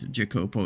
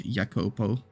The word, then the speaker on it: Jacopo: because yeah obviously um it's not jacopo it's yopo because Italian or something